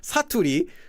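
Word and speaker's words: 사투리: And the problem rhymes with baturi, but starts with an S. It's known as saturi.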